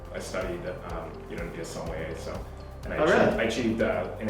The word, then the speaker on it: sommelier: I studied, to be a sommelier, so.